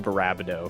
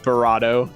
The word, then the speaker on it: Barado: I do find it hilarious how you started calling him Barabdo for no reason I can tell. Oh, my bad. What's his name? Barado? Barado. Yeah, there's no second B.